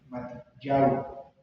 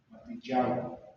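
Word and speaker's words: Mattityahu: Se escribe M de mamá, A de Alberto, T de Tomás 2 veces, I latina una vez, T de Tomás, Y, A, H, U. ¿Cómo se pronuncia? Pues creo que es Matillao. Matillao, es en hebreo.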